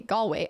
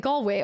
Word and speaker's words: Galway: Galway is pronounced Galway. Oh, like Galway. Okay. Yeah, like Galway girl.